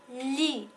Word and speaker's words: lit: le thé est muet alors il ne se prononcent pas alors on dit sous le lit sous le coussin alors coup le aux usa